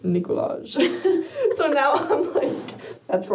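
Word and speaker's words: Nikolaj: So now I'm it's pronounced Nicolaj.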